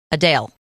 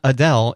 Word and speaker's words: Adele: Adele. It's not Adele. It's Adele. Adele. Adele. Adele. I hate it. Like a chip.